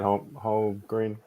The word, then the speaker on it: Holmgren: Chet Holmgren. If I'm pronouncing his last name wrong, right?